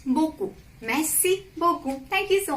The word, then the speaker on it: beaucoup: Third, merci beaucoup means thank you so much. So here I haven't pronounced P. It is beaucoup.